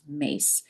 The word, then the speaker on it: Myss: Her name is Carolyn Mace. Her last name is spelled Myss, but it's pronounced Mace.